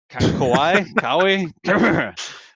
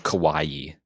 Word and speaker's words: Kauai: Kauai? One of those Hawaiian islands, right? I think it's pronounced actually Kauai, like Thank you. Hawaii with a K.